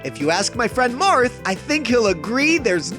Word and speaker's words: Marth: It's pronounced Marth.